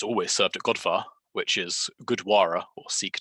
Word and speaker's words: Gurdwara: It is often served at, well, it's always served at Godvar, which is Gurdwara or Sikh temple for anyone who learnt it in religious studies back in school. It's pronounced Godvar though.